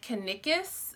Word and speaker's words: Kanikis: And the designer is, I'm not quite sure how to pronounce it. I've been saying it in my head, Kanikis, but I've also heard people say Kanikis. It's K-A-N-I-K-I-S. So it's Kanikis, Prims, and Whims.